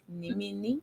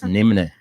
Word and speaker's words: Nimne: Because when you You look see, at some the people- name, some you'll be people- thinking it's pronounced as Nimini. No, my name is Nimne. It's not Nimini.